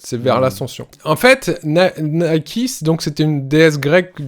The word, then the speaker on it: Nike: Parce que c'est le nom de la déesse. Ça se prononce Nike, voilà.